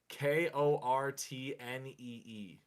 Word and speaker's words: Kortnee: I had a class with a girl named Courtney who spelt her name, and brace yourselves, Kortnee.